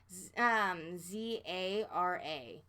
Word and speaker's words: Zara: the way No um so it's felt like za RA Zara all these that's how we pronounce it well thank you well you guys